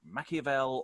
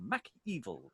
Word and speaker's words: Machiavel: we have on stage Machiavel or Mac-Evil, depending on your decision on pronunciation.